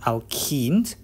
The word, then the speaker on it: alkene: When you have alkenes, you have CnH2n. How we differentiate between them? Is this in the name? Actually, the name is wrong there. It should have been alkane, not alkenes.